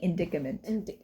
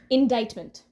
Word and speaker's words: indictment: all about Trump's indictment is that how you pronounce it I keep saying indicament I hope they're predicament predicament indicament we made a whole script and we don't know how to say the word enticedment in indictment indictment indictment indictment okay it's